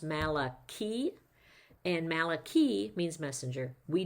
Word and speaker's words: Malachi: should have used soda so um actually it's pronounced Malaki and Malaki means messenger we don't really know